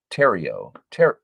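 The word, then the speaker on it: Theriot: Terrio. Okay. That makes sense. Thank you for Eric because I've always wondered. Shane Terrio's, it is kind of like the silent T then.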